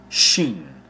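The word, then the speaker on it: שין: Shin, transliterated as sh, value 300, is pronounced shin.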